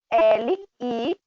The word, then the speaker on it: live: Então, a pronúncia para você falar viver é live. Olha aí, eu coloquei entre slash, né? Coloquei com o acento que dá esse som de E, live.